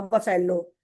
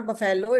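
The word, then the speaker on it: buffalo: Teacher called that black kind of काऊ अ बफेलो। सो I said no बेटा इट्स नॉट बफेलो।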